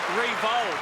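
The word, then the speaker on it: Riewoldt: Nick Reel or Revald as he said his name probably should be pronounced during the week.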